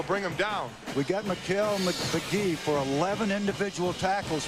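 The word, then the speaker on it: Mikal: It's not McCall. It's not Michael. It's not McHale. It's McKell, although it's spelled M-I-K-A-L.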